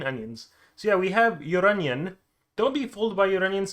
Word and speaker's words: Lloronion: It's finally time to review Lloronion. I think that's how you pronounce the name, because in Spanish, like llorar, llorón, that's like crying, and clearly this is onion.